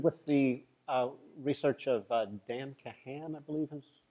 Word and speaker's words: Kahan: Are you familiar, Richard, with the research of Dan Kahan, I believe his name is pronounced, at Yale?